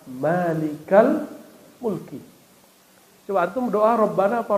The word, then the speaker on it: Rabbana: mujarad kalau dia Mufrad rabbuna tapi kenapa dibaca Rabbana karena di depannya ada ya tapi enggak dibaca ya-nya disembunyikan saking dekatnya kepada Allah subhanahu wa taala maka dibacanya langsung Rabbana rabbaana asalnya nahnu Tuhan kami